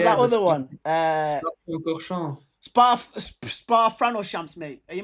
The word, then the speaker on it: Spa-Francorchamps: Spa-Francorchamps. Spa Franoshamps, mate. Are you mad? Francorchamps. Francoshamps, bro. Yeah, dude. What was there was more, man. You was mocking the pronunciations, lad.